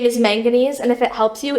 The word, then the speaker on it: manganese: It's name is manganese, and if it helps you, it rhymes with mac and cheese. So, remember that that's manganese mac and cheese up there.